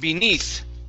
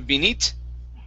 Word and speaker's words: beneath: is uh the word the word beneath instead of benite okay pronounce a th beneath you need okay